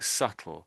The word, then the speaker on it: subtle: so I say so this letter in the middle is basically silent. So that that's that's what's confusing, isn't it? Subtle. Yeah, it's just subtle. The T does nothing. The B does nothing.